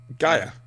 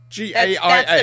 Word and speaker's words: Gaia: That's not an American pronunciation of Gia. Gaia. Gaia. Yeah. Yeah. That's G-A-I-A. the British pronunciation. Gaia. Mhm. And we came As in, first. like, the Earth goddess. Yeah. hmm Yeah. That's... British.